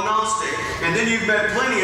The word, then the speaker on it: Gnostic: So when you meet a Gnostic with a capital G that's silent, you meet a Gnostic, then you're meeting someone who is pursuing knowledge.